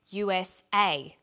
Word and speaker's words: USA: is pronounced separately but the last letter is pronounced more strongly because it carries the primary stress so we say USA ASAP ABC and TV